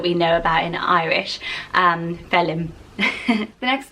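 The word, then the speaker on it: Phelim: and there's an actor, he's actually anglicised this to spell it P-H-E-L-I-M. So if you love the sound, you think the spelling is too much, you could use the phonetic spelling of Felim.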